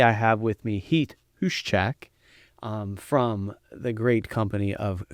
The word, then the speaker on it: Huschak: Today I have with me Heath Huschak from the great company of Koppers.